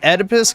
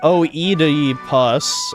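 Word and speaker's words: Oedipus: He pronounced Edipus complex like o e pus or something. And it did sound really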